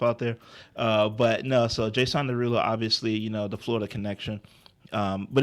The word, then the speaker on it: Jason Derulo: And I kind of was hearing like Jason Derulo, Terry Crews. Like I was hearing No, other that's artists. not how you say his name. Jason Derulo.